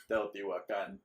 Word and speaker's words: Teotihuacan: The correct pronunciation for the first one was Teotihuacan.